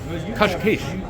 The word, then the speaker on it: Cascais: Today's adventures on Eating Global will take us to Cascais, or as the locals say it in Portuguese, Cascais.